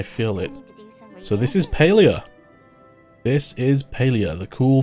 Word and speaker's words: Palia: Switch announcement was made, I heard it was actually pronounced Palia, and it blew my mind. I have to get used to calling it Palia.